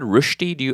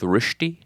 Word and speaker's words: Rösti: And have you ever had rushti? Are you familiar with rushti?